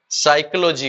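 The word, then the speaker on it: psychology: करते रहते हैं, क्योंकि इसके अंदर जो पी है वो आपका क्या है, साइलेंट है।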